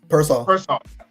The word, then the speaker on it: Pearsall: You get Kittle's healthy, and Ricky, I pronounce it Pearsall.